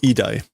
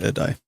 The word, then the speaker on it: 偉大: Oh, idai, not edai. My pronunciations aren't correct, but the meaning is correct.